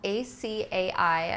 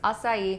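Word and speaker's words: açaí: don't know it's spelled a AI I know a lot of people pronounce it aai it's assai when you're buying an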